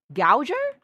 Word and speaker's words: gouger: I think it's pronounced Googer, but... Gouger? It is Gouger.